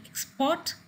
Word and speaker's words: export: contrast, to discuss, to export, to improve, to present. These are the verbs with the prefix and the stress is on the second syllable.